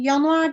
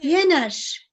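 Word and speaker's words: Jänner: size eklemek istediğim şey yanar dedik ya Yener Yener diye okunuyor O da Ocak anlamına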